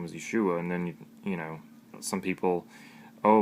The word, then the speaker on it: Yeshua: His name is Yeshua, I believe, because it means salvation.